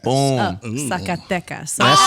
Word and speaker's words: Zacatecas: Zacatetas. No. Tell me how you say it. Hit her with it, Chiclet. Zacatecas. Boom. Zacatecas.